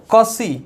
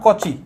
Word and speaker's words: Cauchy: जैसे यहाँ पे ये जो CH है ना, इसको ए वाला पढ़ा जाएगा, कौसी नॉट कोची। बहुत जन इसको कोची बोलता है, बट ये गलत है, क्योंकि यहाँ पे जो